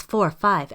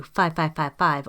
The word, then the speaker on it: 5555: That's 45 as opposed to 5555 or quadruple 5, likely as an homage